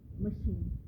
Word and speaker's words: machine: example they say that a child who learns that the letters of chur in the word chin ch is to have to pronounce in a certain way will get into trouble if you pronounce the same two letters ch in the word machine now in the uh